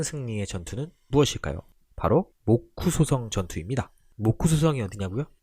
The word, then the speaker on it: 모쿠소: 바로 모쿠소성 전투입니다. 모쿠소성이 어디냐고요? 모쿠소, 목사의 일본 발음인데요.